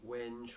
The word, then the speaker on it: wenge: It's got a cedar top, U back and sides, mahogany wenge or wengy depending on your pronunciation, and holly neck, Goto